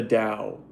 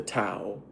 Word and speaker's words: Dao: way everything works is the Dao or the Tao. It could be spelled with a D AO or T AO, right?